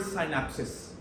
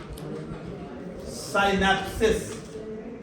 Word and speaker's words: synapsis: s i s but the pronunciation is exactly the same you see but during